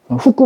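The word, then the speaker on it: 福: 후쿠 맞네요, 복산. 복을 후쿠로 발음해요.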